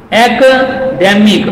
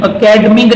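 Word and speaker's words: academic: ई एम आई सी, इसको अकेडमिक नहीं पढ़ते, इट is correctly pronounced एकेडमिक, एकेडमिक अकेडमिक नहीं पढ़ते, एकेडमिक पढ़ते हैं, याद रहे ये सबको।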